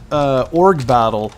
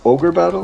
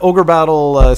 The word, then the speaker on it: Ogre Battle: and I also put Org Battle 64. I don't know if you've ever played that. It's a person of Lordy caliber. Isn't it pronounced Ogre Battle? Yes, it is. So yeah, Ogre Battle 64.